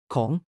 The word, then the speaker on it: ของ: ของ Pronounced like calm with an ah sound, means of or shows ownership.